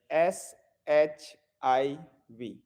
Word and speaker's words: Shiv: what what happened ayurveda so the correct pronunciation will be shiv the in Sanskrit with every letter there is a sound of a a so when you write in English then it is s h i v eight but um when we like pronounce it then full like Shiva so that's not correct shiv hmm so Palms facing